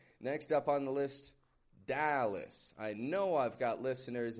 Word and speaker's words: Dallas: So notice when I say this, Dallas, I'm not giving it a Dallas. It's getting a schwa, is. That schwa, very weak, reduced vowel sound. Whereas the A, that is stretched out, and it does get stress, and it's kind of strong in its sound.